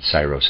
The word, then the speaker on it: Syros: I've decided I want to pronounce it Pherecydes, and Syros is S-Y-R-O-S.